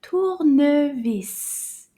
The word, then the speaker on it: tournevis: Un tournevis. Tournevis. Combien de syllabes? Tournevis. Tournevis. 3. Tournevis. 3 syllabes. Bravo.